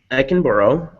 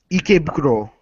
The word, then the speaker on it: Ikebukuro: The Headless Horseman lives in Ekenborough, however you pronounce it. Ikebukuro.